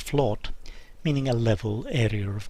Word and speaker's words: flat: are derived from an old norse word flawed f l OT but pronounced flawed meaning a level area